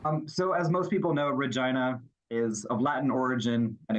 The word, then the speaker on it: Regina: I would still say that Regina is pronounced as Regina. That's how the majority of people from the city say it. And that is the current pronunciation.